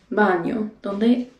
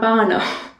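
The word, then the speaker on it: baño: that's where esta el bano esta el now the n with the tilde over it that is pronounced with sort of like an ny imagine the word canyon you sort of show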